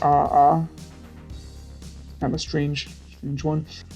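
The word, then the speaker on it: aa: have a a oh i believe it's pronounced ah ah i'm a strange huge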